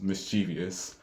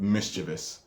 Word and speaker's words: mischievous: used to say one which I think is mischievous cuz that still sounds more right to me even though I don't know where I picked that up instead of mischievous which is the actual pronunciation of it like I have